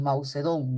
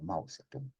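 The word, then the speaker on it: Mao Zedong: Ustedes muchas veces pronuncian tal como leen Mausedón, ¿no? Pero en realidad se conoce como Mausetú.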